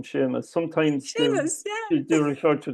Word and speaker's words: Seamus: have the same problem when people come to pronouncing my first name Sheamus sometimes she they refer to the seus S